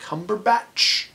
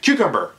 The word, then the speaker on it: Cumberbatch: I did love Benedict Cumberbatch? I can't remember how to... Cucumber is how a lot of people pronounce his name, which is totally wrong, but amazing actor, and as the villain of this movie.